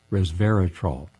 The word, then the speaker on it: resveratrol: And this focused upon resveratrol, res, R-E-S, vera, V-E-R-A, trol, three syllable, well.